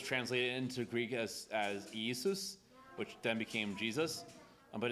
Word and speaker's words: Yeshu: was actually probably Yu because the galileans couldn't pronounce the shin and they couldn't pronounce the ah of the Ion at the end so his his name